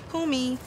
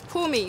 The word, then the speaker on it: Mpumi: okay tell me how to pronounce your name it's pumi it's pumi so my full name